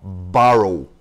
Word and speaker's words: borrow: Enquanto borrow se pronuncia com som de ba, como se houvesse apenas um R entre as vogais A e O. Borrow.